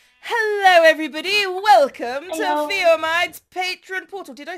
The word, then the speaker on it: Fiomide: to Fiomide's Patron portal.